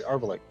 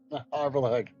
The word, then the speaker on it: Arveleg: Or Arvaleg, sorry, Arvaleg. Right in pen here. King. Aramil's too close to Arathil. All right, how do you spell that? Arveleg.